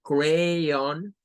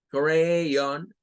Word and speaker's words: crayon: una AO, como el crayon, crayon, on, más parecida a como lo diríamos casi en español, vea, como on, crayon, y una pronunciación más suave en donde este sonido se hace como el schwa.